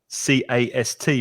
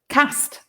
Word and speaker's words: cast: the voting box and one thing that's interesting is lin's pronunciation of c-a-s-t because lin's from the north of england and you say cast and i'm from the south of england and i say cast so two different pronunciations of the same word cast and cast we've got some more